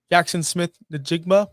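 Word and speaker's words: Jaxon Smith-Njigba: 7, Nico Collins 8, Drake London 9, AJ Brown 10, Jackson Smith Najigma, which I just finally pronounced that name correctly, 11, and Ladd McConkey 12.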